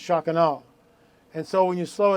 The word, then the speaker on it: Shekinah: it's pronounced the american bastardization of it is shekinah but it's actually pronounced shocking and so when you slow it down shock